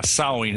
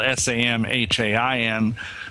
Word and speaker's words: Samhain: And the real name, I think, was called Samhain. Is that the correct pronunciation? Yeah, in the Celtic British Isles, yeah, Samhain. It's spelled S-A-M-H-A-I-N, but we say it as Samhain.